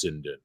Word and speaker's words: Sinden: cinden light gun because i've heard it pronounced both ways seiden and sinden during that video i pronounced it both ways multiple times yeah still had guys leaving me comments after the video hey peter just wanted you to know that it's cindy i'm like thanks for